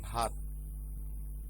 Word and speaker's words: ভাত: এবং ভাত, এই অক্ষরটির শেষ বর্ণ দেখো সরাসরি ব্যঞ্জন বর্ণ এবং এখানে কোনো কার ব্যবহৃত হয়নি এবং উচ্চারণে দেখো আটকে যায়। যেমন উচ্চারণ করি ভাত, দেখো জিহ্বা তালুতে লেগে যাচ্ছে, সুতরাং ব্যঞ্জনান্ত হবার কারণেই আমরা কি করেছি, হসন্ত চিহ্ন ব্যবহার করেছি ততে।